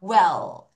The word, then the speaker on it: well: Well. 여러분, L 발음이다. 아까 L 발음 뭐라 그랬어? 혀를 윗니 뒤에 붙일게요.